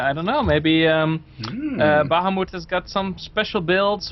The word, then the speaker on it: Bahamuth: are Behemoth baham bth I don't know how you want to pronounce it in English keep it on baham Bahamut like the Dutch way Bahamut um wait wait